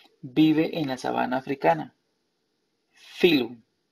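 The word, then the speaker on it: phylum: Filum. Filum se escribe pilum. P-H-Y-L-U-M. Filum.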